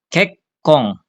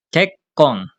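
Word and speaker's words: けっこん: Kekong. Kek kong. Karena di depannya dari kolom K. Jadi ya double K-nya.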